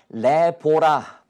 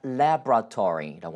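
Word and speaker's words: laboratory: 요건 또 어떻게 할까요 레보라 보라가 아니라 래브라토리라고 하시면 됩니다 보라 두음절로 하지 마시고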